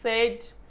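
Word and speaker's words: said: সে বলল যে সে যাবে, সি সেড, হি সেড, হি সেড, হি সেড। আচ্ছা, এটার উচ্চারণ কিন্তু সেইড না, এটার উচ্চারণ হলো সেড, সেড।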